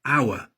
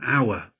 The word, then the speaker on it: hour: Sometimes a consonant is silent, for example, hour. Then we use an, so I waited an hour.